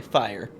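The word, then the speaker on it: Fyer: uh yeah this it's pronounced like fire since it's a pun on him shooting a cannon okay fire i'll try to remember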